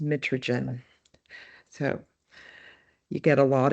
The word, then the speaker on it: mitragynine: The scientific name is pronounced mitragynine.